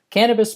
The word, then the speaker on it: Canibus: It's just putting bitch in the place of bis or bus, really, because it's spelled Canibus. But anyway, it's Cannabis might have paid a lot for that.